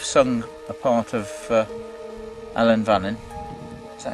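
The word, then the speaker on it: Ellan Vannin: we are you've sung a part of uh Ellen vanon is that how you say it yeah I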